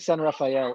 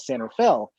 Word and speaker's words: San Rafael: And by the way, you said San Rafael earlier when we were off camera, and I really appreciate you doing the proper pronunciation. Here in the Bay Area, we call it San Rafael. Just, I don't know if because we're lazy or whatever like that, but it really is San Rafael.